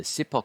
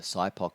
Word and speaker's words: SIPOC: to talk about is the sipoc or the cypoc depending on where your pronunciation is embedded the the sipoc model